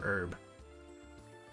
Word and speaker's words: herb: the racers medicinal herb okay herb or herb the herb or herb let me know it's herb right that h is silent age-old dispute is it